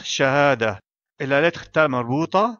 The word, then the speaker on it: شهادة: Ici donc, si on s'arrête à la fin du mot, on le prononce Shahada.